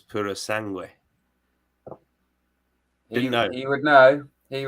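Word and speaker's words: Purosangue: of his Italian lessons tells me that it's Puro sangui yeah you would know he would know I'm telling you've been uh talking uh pronunciations with him yo it's your wife must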